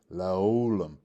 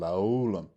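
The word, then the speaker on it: לעולם: Which gives you like an L sound. So that's where you get laolam, you get the L sound, laolam. That L, the parts of speech it is a preposition.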